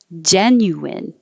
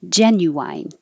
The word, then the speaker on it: genuine: hear both ways genuine or wine at the end genuine if this is a